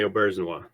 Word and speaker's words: Auberjonois: working with uh, Rene Auberjonois? Very good. Excellent pronunciation of his last name. Thank you. A lot of people get it wrong.